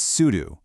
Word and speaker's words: sudo: That's why it's sudo. It rhymes with voodoo.